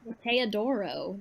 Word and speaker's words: Teodoro: I can't roll my R's, so I do like a D sound. You don't have to roll your R's. Teodoro. That's what. Teodoro. Well, if you can't roll your R, then just think of it as like if you want to like make it sound like you're trying, then just think of it like a tap.